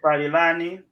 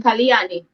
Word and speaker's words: Paliani: Casa, Drew Moyo, Eric Palilani, Nyago, if I pronounce that correctly. Correction, Paliani. I think it's Paliani. Okay, sorry. So it's Eric Paliani.